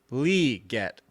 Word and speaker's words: Legette: It's not Legette. You ready what it is? It's Legette. So there you go. Xavier Legette. I'm going to get used to that. Because the heavy enunciation is on the Lee, the L-E, but it's L-E-E, which means it's really Legette.